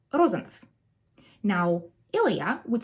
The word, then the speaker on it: Rozanov: whether you engage your vocal cords, right? B, p, v, f. So it would be Rozanov.